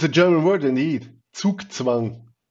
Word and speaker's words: Zugzwang: But it's a german word indeed: Zugzwang. Because germans are pronouncing the 'z' in the alphabet like a 's'. Very sharp. Zugzwang.